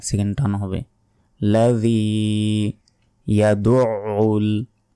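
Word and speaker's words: يَدُعُّ: লাযী ইয়াদউল আমরা অনেকে বলি ইয়াদুল কিন্তু এখানে নেই। ইয়াদউল আইনের উচ্চারণ গলার ভেতর থেকে উচ্চারিত হবে, একটু চাপ দিয়ে উচ্চারণ করবেন তাহলে উচ্চারণ হবে।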